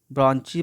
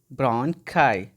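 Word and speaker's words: bronchi: ठीक है, आप इसे ब्रॉन्ची पढ़ते होंगे, लेकिन इसका सही प्रोनाउंसिएशन है इसका सही ब्रोंकाई.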